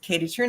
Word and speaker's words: Kaytee Thrun: TR just reminds uh rhymes with moon balloon but I start all my videos Katie TR as always so that